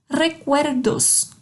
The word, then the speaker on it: recuerdos: O R tem um sonzinho de re. Recuerdos.